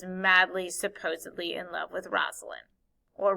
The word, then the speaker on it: Rosaline: Before he ever met Juliet, he was madly, supposedly in love with Rosalind, or Rosaline is how it's said sometimes too.